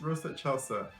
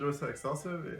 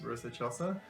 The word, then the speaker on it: Rosa Excelsa: And yeah, it's pronounced Rosa Excelsa. Yeah, I thought it was Rosa Excelsa, it's Rosa Excelsa.